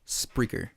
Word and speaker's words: Spreaker: And you're going to just type Spreaker. Spreaker. Hell yeah. Macaui told you how to spell it. But if you want to hear it again, Spreaker. Speaker with an R. Spreaker. SP as in Peter.